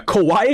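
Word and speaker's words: こわい: Kauawaii and Kawaii very different things. Kauawaii is scary. Kauawaii is cute. Got to be careful with your pronunciation.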